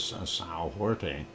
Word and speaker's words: São Jorge: there on the island of São Jorge, and that is São Jorge, if you want to pronounce it in Portuguese.